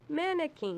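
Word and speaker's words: manakin: How do you pronounce it? Blue-backed mannequin. Okay, so it's like a mannequin. Spelled a little different.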